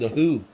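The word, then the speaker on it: The Hu: I like the Mongolian band The Who. That's H-U, not the other band. It is pronounced the same, but it is not the same band.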